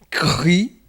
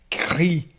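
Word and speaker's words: Χ: Tá aí, ele é transliterado como se fosse um KS, ou um KR, Cri, um KH, alguma coisa puxado para isso aí.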